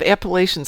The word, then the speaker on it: Appalachia: Though, speaking of Appalachians, I was watching something the other day, and apparently, if you live in Appalachia, it's pronounced Appalachia.